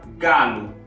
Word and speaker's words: galo: Formam a palavra galo. O aqui no fim não tem acento, então o som é u.